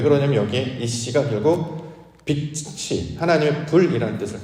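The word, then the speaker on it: אִישׁ: 특별히 이제 남자, 여자 개념을 말씀의 개념으로 아니하고 이 진리적 관점을 살펴본다면 성경에서 남자를 뭐라고 부르냐면 이쉬라는 말로 발음을 하여서 부릅니다. 이쉬.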